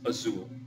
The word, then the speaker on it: azul: dictionary and it means azul notice that the last letter is an l and l is within luzir so therefore the stress goes on the last syllable and because it ends